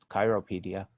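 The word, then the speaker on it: Cyropaedia: Plato, who wrote the Cyropedia, and sometimes I may pronounce it the original Chiropedia.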